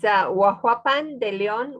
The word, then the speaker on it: Huajuapan de León: She currently lives in, help me out with the pronunciation. It's Huajuapan de León, Oaxaca.